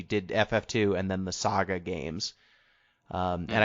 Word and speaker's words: SaGa: ff2 and then the saga games um and i said sega because it's spelled capital s a capital ga um yeah so jeff